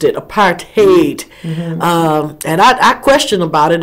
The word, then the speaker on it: apartheid: But that's the way the English is pronouncing it, apartheid. But it's apartheid.